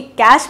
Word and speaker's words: cache: आपको क्या बोला था, इसे क्या प्रोनाउंस करते हैं? श। सो यहाँ पे क्या होगा? कैश, बट इसकी स्पेलिंग दूसरी होगी, कैश मत लिख के आ जाएगा, CASH, गलत होगा वो। सो ये है CACHE, कैश।